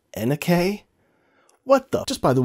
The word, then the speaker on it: NUK: case and how much is that wow you Nook guys are really running a racket what's that it's pronounced Anna k what the just by the ones you see